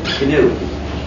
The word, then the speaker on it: GNU: Anyway, when it's the name of our operating system, please pronounce a hard G. Pronounce it GNU.